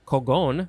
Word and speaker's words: cogon: So this is it's from a Spanish word, cogon, with an accent on the second O, from Visayan and Tagalog, from their word cugon with a K.